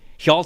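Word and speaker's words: Hjalte: say his first name is it healt helal I I believe it is helal fro Holt 74.3 got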